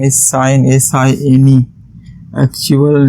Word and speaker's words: sine: letters have been taken this is not pronounced as seen theta all right because cn